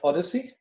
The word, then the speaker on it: OHDSI: OHDSI is pronounced OHDSI. And like the journey that Odysseus made after coming out of the Trojan War, going home, it took him 19 years to go home.